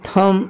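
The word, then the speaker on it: thumb: क्या कभी आपने सोचा है कि डम को डम क्यों पढ़ा जाता है या फिर क्रम थम लिम में बी के बिना इस वर्ड को क्यों पढ़ा जाता है आखिर इन सब वर्ड्स में बी साइलेंट क्यों है और इस तरह के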